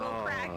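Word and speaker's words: craic: The crack, which is spelled C R A I C, is like basically fun in Irish.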